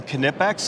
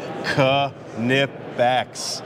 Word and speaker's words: Knipex: show and I have Craig with us from canipex and that is the proper pronunciation Ka nip backs perfect so here we are we are demonstrating